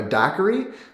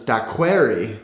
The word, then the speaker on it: daiquiri: a drink a daiquiri i heard one of my swedish friends pronounced this that query one time and i had never heard anybody say that query i thought that was